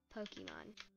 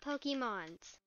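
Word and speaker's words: Pokémon: And by the way, I don't know how many times I have to tell certain people this, but the correct pronunciation of multiple Pokemon is Pokemon, not Pokemons.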